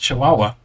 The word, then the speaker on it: Chihuahua: My wife and I were looking at this, and she started laughing at me because it's pronounced Chihuahua. And I did not realize, my apologies, you can laugh at me in the comments.